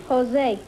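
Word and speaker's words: José: Is that the way you pronounce it, Josie? No, Jose.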